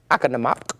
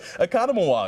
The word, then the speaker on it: Oconomowoc: How would you pronounce that? Akanamak. Oh, yeah. Anakamawak. Kind of close. Economawalk.